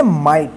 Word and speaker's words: might: माइट। ध्यान रखिएगा आई के बाद GH रहता है तो आई का आई उच्चारण होगा, ठीक है।